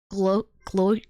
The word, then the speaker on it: Gloucester: Is it pronounced Lester? It's a double gloster.